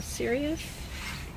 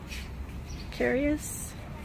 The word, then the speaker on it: Cereus: This tall cactus is a cereus, carius, depending on whether you're pronouncing it with the hard C or not.